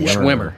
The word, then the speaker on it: Schwimmer: Yep, Schwimmer.